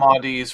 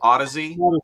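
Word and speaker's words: Audeze: Yeah, Odyssey LCD XCs. I was trying to remember the name of those for someone. I called them Audis forever, and then Manny Merrick can correct me.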